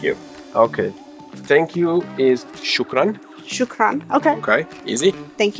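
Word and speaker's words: شكرا: please and thank you okay thank you is shukran shukran okay okay easy thank you shukran shukran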